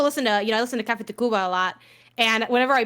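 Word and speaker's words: Café Tacuba: Yeah, like I still listen to I listen to Cafe Tacuba a lot, and whenever I play them, Wait, listen to who? Cafe Tacuba. It's spelled TACV.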